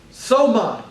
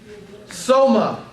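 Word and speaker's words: σῶμα: All right, the second word is the word soma. Sigma, omega, mu, alpha. Soma. Soma. You know, like somatic, we get that word, comes from the Greek word soma.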